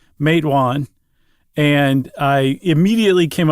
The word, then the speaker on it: Matewan: and I heard yes I heard a resident say mawan and and I immediately